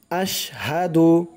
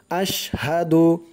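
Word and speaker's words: أشهد: আশহাদু, হামজা দিয়ে শিন ধরবে, আওয়াজটা শক্ত করতে হবে, আশহাদু।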